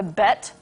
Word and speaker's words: BET: The Bet? Yeah. Spell that. B-E-T. It's the BET Awards, I believe.